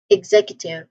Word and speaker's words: executive: Instead of X, we say egg.